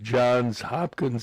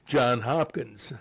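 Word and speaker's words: Johns Hopkins: That's sometimes mispronounced. Uh instead of John's Hopkins, they'll say John Hopkins.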